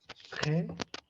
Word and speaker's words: très: Très. Très. Her. Très. So, whenever you have this T or D or P followed by R, means direct after consonant, directly if the R is there, R sound is